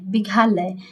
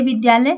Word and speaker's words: विद्यालय: देखिए ये घा है, विघालय, यहाँ घ लिखे हैं, ये विघालय, लेकिन ये विद्यालय सही है, लेकिन पढ़ेंगे क्या? विद्यालय। विघालय नहीं पढ़ेंगे, विद्यालय पढ़ेंगे।